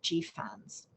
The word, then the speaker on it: GFANZ: us more about that i'll spell it out again the glasgow financial alliance for net zero but i understand that g fans is the correct way to refer to it certainly a lot easier